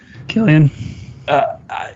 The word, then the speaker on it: Cillian: It seemed like a linear story until I saw, how do you say it? Cillian Murphy? Killian. Until I saw him on that boat at some point after he had already been picked up.